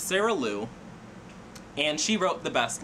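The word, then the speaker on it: Sarah Lyu: I've been pronouncing her name wrong all year. I feel so bad, but it's Sarah Liu.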